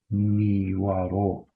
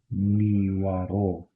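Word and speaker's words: نیوەڕۆ: afternoon simply would be niwaro. Bash. So, once again, how we say noon or afternoon? That would be niwaro. Ni wa ro. Again, ignore the t.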